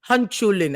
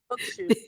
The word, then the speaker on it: Hochschule: So they have schools, universities, University of Applied Sciences, universities of arts and music, dual Hanchulin. I don't know. Is that how you pronounce it? Hochschule.